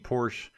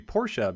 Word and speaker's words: Porsche: wondering I've been saying Porsche my whole life until recently and I was told that it's actually Porsche because it is based on the way the family's name is pronounced in German so apparently technically it